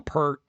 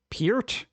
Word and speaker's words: Peart: I call him Pert. Neil Peart, like Pert Plus shampoo. Peart? I have never heard anybody pronounce it Peart.